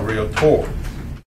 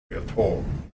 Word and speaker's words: Realtor: It pronounced as Realtor, not Realtor. Okay, they will tell you Realtor.